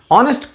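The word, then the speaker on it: honest: ऑनेस्ट, भाई इसको क्यों गलत कर दिया? ऑनेस्ट उच्चारण ही करते हैं तो ऑ का इस्तेमाल करते हैं उच्चारण में, फिर क्यों एन नहीं लगा?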